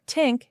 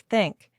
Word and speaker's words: think: Even advanced speakers sometimes replace it with d or t, saying this instead of this or tink instead of think.